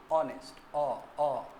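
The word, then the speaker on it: honest: जैसे एग्जांपल देखो ना तुम लोग, किस तरह उच्चारण करोगे? है तो लिखा हुआ ये कॉन्सोनेंट से है, ऑनेस्ट, ऑनेस्ट, ओ आ रहा है।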